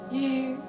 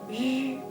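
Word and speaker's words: ü: And then they have an extra special case with a u that has two dots over it. It is pronounced yu, yu.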